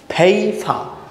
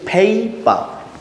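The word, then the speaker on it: paper: word that পেপার পেপার আমি কিন্তু বলছি না পেপার আমি বলতেছি ফেই পা কারণ হচ্ছে কি দুইটা পি আছে যদি দুইটা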